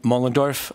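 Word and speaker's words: Moellendorf: My name is Mullendorf. I might take 2 minutes to spell that, but it's M-O-E-L-L-E-N-D-O-R-F.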